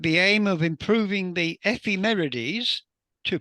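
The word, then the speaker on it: ephemerides: Uh, XCOK is a proam collaboration, a professional amateur astronomer collaboration with the aim of improving the Femeres, to pronounce it correctly, of exoplanets, which will be the target ofSa's aerial mission uh, due for launch in 2029.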